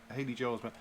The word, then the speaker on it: Haley Joel Osment: I can never pronounce his name. Haley Joel Osment, is it? Haley Joel Osment.